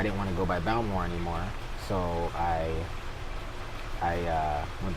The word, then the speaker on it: Balmore: then and then so then Bao more that's how you say it in English yeah you know it's about more than my grandma would call me it bow more I never offered junior